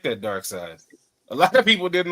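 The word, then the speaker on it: Darkseid: Is it dark side or the material made out of It is side. It's side. It is. Okay. dark side cuz everybody says dark seed and I'm like is it seed or is it side dark side you might be listening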